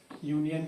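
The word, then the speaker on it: union: उसी तरह से है यूनियन, है यूनियन किससे शुरू हो रहा है, यूनियन किसे, यू से शुरू हो रहा है, वावेल से शुरू हो रहा है, लेकिन इसका प्रोनाउंसिएशन क्या हो रहा है, या हो रहा है, तो यहाँ पर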